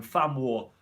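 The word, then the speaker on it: Van Wijk: fun way van wyck i pronounce this block's name fan war family or fan war with a throwing down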